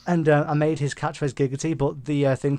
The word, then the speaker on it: Giggity: And I made his catchphrase Giggity, but the thing pronounced it Jiggity.